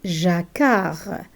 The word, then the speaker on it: jacquard: These three letters make one sound, K. For example, jacquard, jacquard.